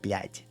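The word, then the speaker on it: блядь: You're barely going to say the Z at the end, blядь, right? And some people even say that I don't say it correctly, but it's very nuanced. You say it so lightly. It's actually called the soft sign, this little mini B.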